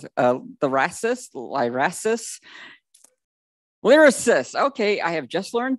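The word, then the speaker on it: Lyrasis: Orcutt from, I have never learned how to pronounce it, Lyracist, okay, I have just learned that.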